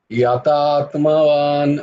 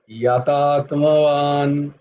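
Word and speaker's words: যতাত্মবান: দেখো কোথায়, ইয়াতাত্মবান, ওয়ান, বান হচ্ছে না, ওয়ান হচ্ছে, ইয়াতাত্মবান। দেখো আমি বান বলছি না, কিন্তু আমি বলছি ওয়ান, ইয়াতাত্মবান। আমার দুটো ঠোঁট ঠেকছে না গিয়ে বয়ে, জয়ের কিন্তু ক্ষেত্রে।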